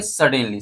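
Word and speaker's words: suddenly: लेकिन लेटर को हम डबल नहीं बोल सकते। समझ में आया बात? तो इसको अगर प्रोनाउंसिएशन करना होगा तो कैसे बोलेंगे? एस यू डी डी एन ई एल वाई। इसको बोलेंगे सडनली।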